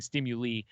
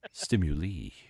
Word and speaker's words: stimuli: and I was like, it's pronounced stimuli, and she keeps saying stimuli, and every time she does, it sounds like a sushi chef. Stimuli.